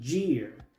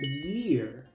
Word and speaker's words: year: Muchos pronuncian esta palabra gear, pero la i griega en inglés no se pronuncia así, se pronuncia como una i. Así que esta palabra se pronuncia year. La y se pronuncia i. La e se pronuncia i. La a es muda, luego se pronuncia la r.